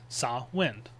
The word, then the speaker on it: Samhain: cow or a like sin. Cowin sawin. It's not Sam Hayne or anything like that because the mh in sin in Irish Gaelic makes more of a w sound.